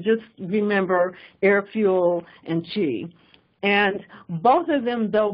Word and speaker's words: Qi: behind this but when you see that symbol Chi is basically the inductive power standard so you